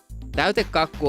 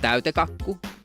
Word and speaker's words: täytekakku: Täytekakku only has one K in the middle. But if we pronounced it like that, täytekakku, it sounds weird. So it gets like an added K there, täytekakku. And it's weird but very natural for us.